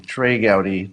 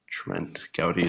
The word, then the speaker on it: Trey Gowdy: trying to go deep sorry I said his name wrong trey Gowdy not Trent Gowdy there's no such thing